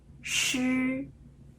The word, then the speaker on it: 诗: 这 3 个发音呢是这样，知、吃、诗的时候，这是我们的舌头，它要翘起来，舌尖要